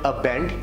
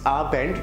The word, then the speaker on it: Guten Abend: if the third one is guten abend it's not append it's opened which means good evening